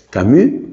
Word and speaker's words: Camus: ateos oficialmente ateos como Albert camu que se escribe camus Albert camu un hombre